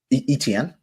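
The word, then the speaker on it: Etienne: don't even know how to say his name ety how do you say his name etn yeah etn he's he's having a good season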